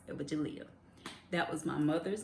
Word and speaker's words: Evagelia: of people can't pronounce Evagelia. That was my mother's name, so a lot of people would mess up her name. They would call her Evangelia and all kind of other stuff, but she would the